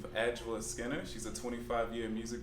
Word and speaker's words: Adjoa: So my is actually pronounced Adjoa, which is, if you think Adjoa, but she's not Jewish.